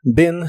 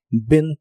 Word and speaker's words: been: participio de inglés es been to que significa estado en Ben se pronuncia con una I corta que se parece un poco a la e Ben to Ben to el verbo trabajar